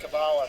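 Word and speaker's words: Kabbalah: I I've heard it pronounced Kabala, but is that actually correct? Yeah. No. No, that's fine. Okay. Kabala is fine. Yes. Um Kabala. Kabala. It's just where you put the accent on the word.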